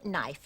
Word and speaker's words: knife: there you go again one doesn't pronounce the k these days it's no knife knit knock knee knuckle and Knight I see and who